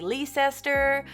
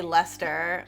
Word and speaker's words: Leicester: Lester some people say Lee sister some people say less Esther but the locals typically say Lester or unless you're local local that you live there then you can say Lee sister number three is etawah